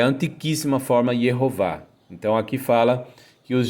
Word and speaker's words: Yehová: Aqui eu vou falar o nome de Deus pronunciando Yehová, porque os judeus da Idade Média e antes, vários judeus, conforme veio à tona um documento publicado onde vários rabinos pronunciavam o nome de Deus com as vogais Shevá Roland Kamatz, pronunciavam Yehová.